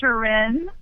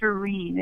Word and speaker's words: Shirin: Most people say Shirin. Oh, that's what we said. Yes, but it's Persian, and there is no in sound in that part of the world. So it's Shirin. It's a long E sound.